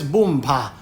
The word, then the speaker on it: Boompa: as the Crown Princess Boompa. You accent the last syllable.